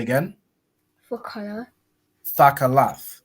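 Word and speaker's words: תכלת: Thakalath, right?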